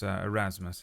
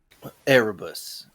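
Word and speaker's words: Erebus: And your name was Arasmus. Is that right? Arabus. Arabus. Sorry.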